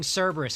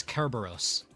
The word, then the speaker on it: Kerberos: Also, I probably shouldn't call it Mycenaean. It's probably Mycenaean, because there's no soft C sounds in Greek. So instead of it being Cerberus, it's Kerberos. Instead of it being Macedonia, it's Macedonia. C's and K's in Greek are the same fucking thing.